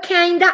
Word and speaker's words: kinda: Estamos por kinda and sorta. Kinda es por, kinda viene de kind of, y lo abreviaron kind of, porque la pronunciación suena como of, kind of, entonces le dicen kinda, y so, le dicen